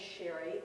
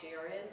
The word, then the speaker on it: Sherry: My first name is Sherry. It gets spelled a lot of different ways. Some people call me Sharon or Shirley. So sometimes I'll say it's Sherry spelled like the wine.